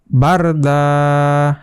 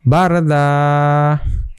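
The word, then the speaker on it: بردا: তো এইটার উচ্চারণ হবে যে বারদা। এখানে এক আলিফ টানতে হবে এবং একটা জবর চলে যাবে আর একটা জবর রয়ে যাবে, ওইটার জন্য এখানে এক আলিফ টানতে হবে। বারদা।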